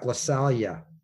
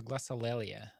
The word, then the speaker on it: glossolalia: and you're going to talk about glossalia yeah i think it is that how you pronounce that word i thought it was glossolalia oh yeah i'm sure